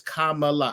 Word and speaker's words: Kamala: Now, the first thing is when they were like, "That's not how you say her name. Her name is Kamala."